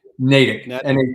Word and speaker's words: Natick: Natick? Natick.